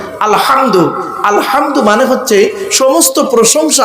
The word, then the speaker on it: আলহামদু: বোনেরা শুদ্ধ করে নিন আলহামদু এ গলার ভিতর থেকে হে এটা উচ্চারণ করবেন আলহামদু আলহামদু মানে হচ্ছে সমস্ত